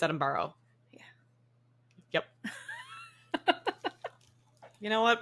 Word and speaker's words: Edinburgh: place what am I saying Edinburgh but it's Adam borrow yeah yep you know